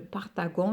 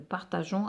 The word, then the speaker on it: partageons: chers que nous nous il faut faire attention à la prononciation si on ne met pas le E on va dire nous partagons notre goûter mais non nous partageons avec eux la même chose ici nous traçons il